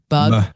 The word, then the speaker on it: Bogue: So Chris Bogue, I don't know if it could be Bogue, like Vogue. It's Bogue.